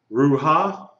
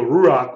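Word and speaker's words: רוּחַ: it you sure it it's not ruha why isn't it Rua because you has which means you do what first you pronounce The Vow first so rurak which means Spirit notice that you say that you you would write that out r o o Ru and then you have ah h ruach a h Rak Rak okay the vowel is written out it's pronounced along with the letter okay now pretty easy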